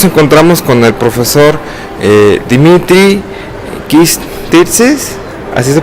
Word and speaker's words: Kyritsis: Y hoy nos encontramos con el profesor Dimitrios Kyritsis. ¿Así se pronuncia? Kyritsis.